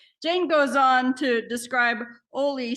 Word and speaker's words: Holi: way they say it, which is kind of a silent H, so it's like Oli kind of thing.